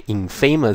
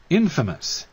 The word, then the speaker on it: infamous: 是这个字它不是念 infamous 哦，大家听一下，infamous。